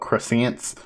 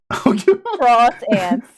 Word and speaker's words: croissant: My whole life mission would become mispronouncing that word. I start talking about croissants. Cross ants.